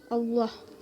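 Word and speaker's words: الله: Allah Lafaz Allah didahului dengan huruf berharokat fathah, dibacanya secara tebal. Itu hukumnya tafkhim.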